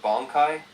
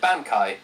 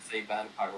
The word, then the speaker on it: Bankai: With Ichigo, he has an ability called Bankai, and that's what I made the entire hook based around. However, I pronounced it wrong the entire time. I said Bankai, which is not how it's pronounced.